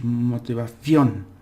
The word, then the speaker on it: motivación: word, it's more like a punch with your voice. You got to punch it out. Sounds a bit strange. Motivación. It's like doom, doom, boom, and you'll get that out. So that's how you pronounce